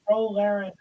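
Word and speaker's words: Ro Laren: easy um who is RO Len that is correct you got to say it right dude it's row row row your boat oh the other character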